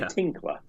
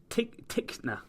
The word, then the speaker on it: Tickner: Did you say Tinkler? Tickner. Tickner, or is that how you say it in New Zealand?